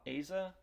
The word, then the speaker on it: Asa: Mexico State and then I think it's pronounced odd ASA ASA Lacy with Texas A&M he's